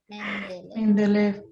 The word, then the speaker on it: Mendeley: Profe, ya se me olvidó cómo se pronuncia. ¿Me de algo? Mendeley.